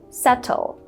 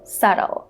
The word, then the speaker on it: subtle: So in British English, people would say subtle, but in American English, people would say subtle. So they would make this T sound into a flap T sound.